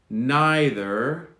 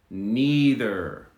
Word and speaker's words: neither: okay let's do these so we have two options for two variants for both either neither or either neither both are correct so one more time